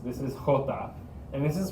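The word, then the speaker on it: jota: is equis this is hota and this is pronounced it's more out of the back of your throat this is not super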